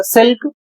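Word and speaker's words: silk: इसे पढ़ा जाएगा सिल्क जिसकी हिंदी होती है रेशम।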